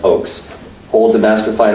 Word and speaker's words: Ochse: The Crossing of Aldo Ray, Weston Ochse, pronounced Ochse, holds a Master of Fine Arts from National University in San Diego.